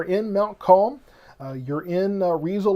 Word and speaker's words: Riesel: So it's Riesel. Okay, so that's how it sounds like that's how that's pronounced.